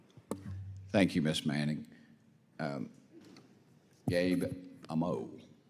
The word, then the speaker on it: Amo: Gabe Amo. How do you say your last name, Gabe? Amo. Amo.